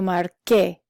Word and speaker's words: marqué: Verbs that end in CAR, like the verb marcar, you have to change the C to a QU so that it sounds the way it's supposed to. Yo marqué. Only in the yo form.